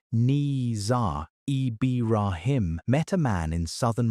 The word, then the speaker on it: Nizar Ibrahim: And in 2008, a graduate student named Nizar Ibrahim, pronounced Nizar Ibrahim, met a man in southern Morocco who showed him a cardboard box.